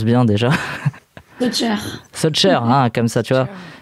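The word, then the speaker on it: Sojcher: Est-ce que je le prononce bien déjà? Socher, hein, comme ça, tu vois.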